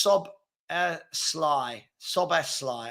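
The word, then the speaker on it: Szoboszlai: saying hey what um okay hen said it's pronounced so Sly soly okay thank you very much um I forgot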